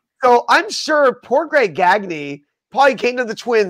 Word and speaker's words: Gagne: You know, it's just like, "No, it's Gagy." Like, no, aren't you Gani like the wrestlers?